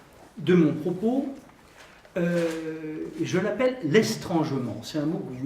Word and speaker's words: estrangement: Troisième temps de mon propos, je l'appelle l'estrangement. C'est un mot que vous ne connaissez pas en principe. Ça s'écrit E-S-T-R-A-N-G-E-M-E-N-T. C'est comme l'adverbe étrangement, mais avec un S en plus.